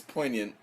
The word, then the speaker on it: poignant: trying to say poi g is silent it's poignant oh now you're gonna